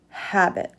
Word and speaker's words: habit: oregano or parsley but in this word habit the H is pronounced habit insect a small creature